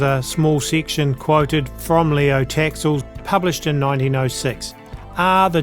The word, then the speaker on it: Léo Taxil: Well, Leo Taxil or Léo Taxil, perhaps it should really be pronounced, was also placed in a Jesuit seminary as a child.